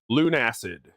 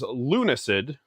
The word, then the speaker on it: Lunacid: going to be playing Lunacid. I have mispronounced it in the past as Lunacid, but it's actually the blending of the words Luna and Acid.